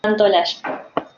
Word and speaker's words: Santolalla: Decime si lo pronuncié bien. Santaolalla.